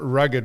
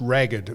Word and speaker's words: ragged: It's um it's not rugged mountain ranges. It's ragged mount.